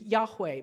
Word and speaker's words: Yahweh: they are not and the name is thought at least one of the pronunciations that we think might have been used is Yahweh but we don't say